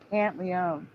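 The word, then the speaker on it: Pantoliano: thing is for me the O is either silent or said really fast because I've always known him as Joe pant Leone you understand it's like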